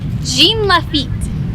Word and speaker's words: Jean Lafitte: National Park as a family how do you pronounce that again Jean Lafitte so we went to Jean Lafitte National Park